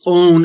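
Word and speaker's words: און: Because although power corresponds with might, and perfectly so, and loins corresponds with stomach, anatomically so, might, pronounced own in the Hebrew, is not involved in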